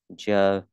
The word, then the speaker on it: Jerusalem: Thủ đô của nó. Jerusalem. Jerusalem. Jerusalem. Jerusalem. Ngân vào âm rú ha.